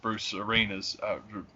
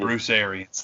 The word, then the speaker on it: Bruce Arians: And it's kind of the same thing with Bruce Arenas. Bruce Arenas. I always say his name wrong. Always. Arians. Thank you. Yeah. Bruce Arians.